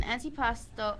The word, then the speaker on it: antipasto: called antipasti is that how you say it antipasta oh okay um it's an antipasto bruschetta is an antipasto that originated in Italy